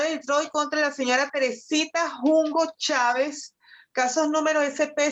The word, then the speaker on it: Teresita: It's a Teresita. Teresita. Yep, it's pronounced Teresita.